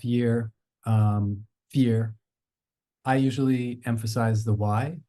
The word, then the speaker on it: FYEAR: as Kai says I I'm leaning towards fear and I think Kai has a little bit more emphasis on the year but it's never meant